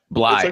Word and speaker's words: Bley: Bllye.